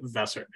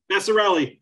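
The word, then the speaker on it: Vasarhelyi: and wife, Elizabeth Chai Vesser. Vesser, I'm sorry, how do you say your name? Vassarelli, thank you. I'm sorry about that. Vassarelli. It sounds like Italian, but it's actually Hungarian.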